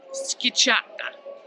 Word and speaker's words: Schiacciata: Schiacciata.